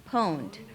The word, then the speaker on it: pwned: Pwned. Pwned is spelled like owned, like I own something, but with a P.